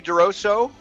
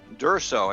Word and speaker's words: D'Urso: success today on expedition networking we have tony durosso durso i should say that's that's pronounced correct pronunciation uh easy for me to